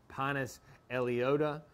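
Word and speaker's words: Pinus elliottii: is, I pronounce it Pinus elliotii. Others pronounce it Pinus elliota, or elliotia. But it's just easier for me to remember if I pronounce it like that and also how to spell it.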